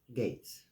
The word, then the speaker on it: Gaetz: reading on Matt uh Gates and before anybody corrects me on the way that is pronounced I looked it up and it says I quote sounds like G A yts Gates okay let's get that